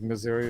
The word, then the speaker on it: Missouri: a little while like Missouri or something like that yeah I lived in Missouri Missouri there's another way you can pronounce that Missouri Missour actually being on this show